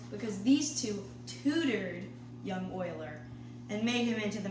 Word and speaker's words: Euler: spelled e U and we are but it's pronounced Euler not you also his name is spelled Leonard